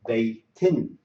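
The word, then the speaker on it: بيتٍ: If I put two here, I would say this will pronounce as in. So it would be baytin, baytin.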